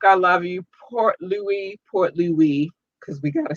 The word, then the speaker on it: Port Louis: in new york i love you port louis portly we because we got to say it right pointless